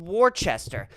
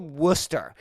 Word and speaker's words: Worcester: I I mean it's spelled like Hester it's spelled like actual Hester and it's called Worchester or Worcester it's not even called I just said it wrong it's called Worcester it's Worcester MA but the people of Massachusetts